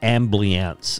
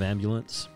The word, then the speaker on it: ambulance: it is not my father pronounces it amance instead of ambulance no joke he's done